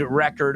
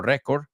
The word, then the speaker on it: record: We were talking about the land speed record over here. Let's pronounce that word. So, un disco y también un récord is record, no récord, record. Hay que oír esa D también.